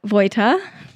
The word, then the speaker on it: Vo: you sorry for um probably mispronouncing your name but um it's vo though right it's vo you're actually really good at that I hope everyone was